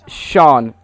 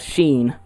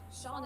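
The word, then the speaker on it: Seán: tick over it and everyone thought it was called sheen the s-e-n yeah some of my friends like read a book or something and someone has the name sean in it and they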